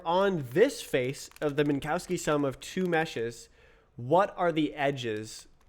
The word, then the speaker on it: Minkowski: Minkowski is the correct pronunciation.